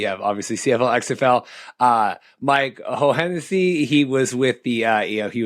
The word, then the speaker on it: Hohensee: And then Mike Hohensee, it's double H is silent, second H is silent.